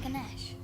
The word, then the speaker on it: Ganesha: They even knew about Ganesha, the Indian god said to have the head of an elephant. Isn't that Ganesh? Oh, maybe it's pronounced Ganesh. It's different. I've heard it pronounced different ways.